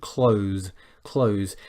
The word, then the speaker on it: clothes: should never do this clothes is a single syllable one syllable only and so some people